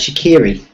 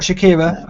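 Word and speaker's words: Shaqiri: Stoke as well uh shakiri okay not Shakira okay no pronounce that correctly um I usually try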